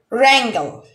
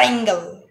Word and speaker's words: wrangle: one is rot rot wrangle wrangle rango in this word the letter w is not pronounced and it's silent so it will be